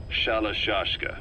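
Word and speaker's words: Shalashaska: the name amongst themselves by the time i got to hearing about it pronunciation had wound up as shalashashka so half gulag half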